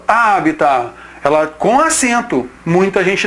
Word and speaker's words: habitat: Moçada, essa forma aí, habitar, ela existe. Ela é a forma vulgar da pronúncia da palavra. Na realidade, essa palavra, a pronúncia dela, a pronúncia ideal, não quer dizer que é a mais correta ou menos correta, não interessa isso, mas a primeira pronúncia dela é essa daqui, o resgate do latim, habitat.